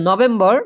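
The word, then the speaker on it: November: আছে অক্টোবা অক্টোবার না ঠিক আছে তারপর যেটা নভেম্বর নভেম্বর মাসকে বলে কি নভেমবা নভেমবা নভেমবা ওকে নভেম্বর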